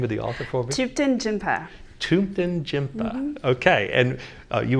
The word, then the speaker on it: Thupten Jinpa: Pronounce the name of the author for me. Thupten Jinpa.